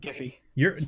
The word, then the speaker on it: Jif: sugar, where like the Jiffy and the Peter Pan. It's pronounced Giffy.